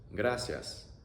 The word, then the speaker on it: gracias: In Spanish, that is gracias. Gracias. A-ya. A-ya. Gracias.